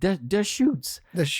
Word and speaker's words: Deschutes: et sur le site ils expliquent comment prononcer the shoots et bon nous on